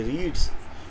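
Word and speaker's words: read: की third form लेकिन इसका उच्चारण अलग हो जाता है इसका उच्चारण होता है रीड है और इनका उच्चारण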